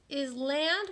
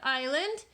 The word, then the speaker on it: island: look at the word Island it has a silent ass in there we do not say is land we say island the S is silent okay alright so here's